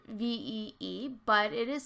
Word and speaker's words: ViE: critics so there it's called V and it's pronounced V but it is spelled VI I and they